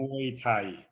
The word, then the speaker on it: Muay Thai: Yeah, Muay Thai.